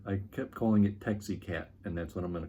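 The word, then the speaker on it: Teixcalaan: Roughly off the top of my head, I tried to go like Texcalanli, and there's a few different attempts at the pronunciation. One reviewer said I kept calling it Texicat, and that's what I'm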